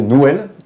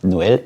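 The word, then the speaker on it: Nwel: Effectivement, parce que Noël en créole ne s'écrit pas comme Noël en France, donc il y a une petite différence de prononciation. Noël, N-W-E-L.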